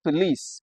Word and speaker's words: police: Just as you can see in this question, you see that only the letter I in the word police is underlined. Yes. So it has that sound.